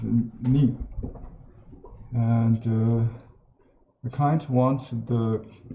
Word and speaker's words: 恁: So it pronounced in Chinese as ni.